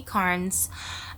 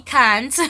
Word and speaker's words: Carnes: And but we call her Becky Carnes because in Massachusetts everyone has this accent. That's how they would pronounce her name. It took me forever before I realized there was an R in there.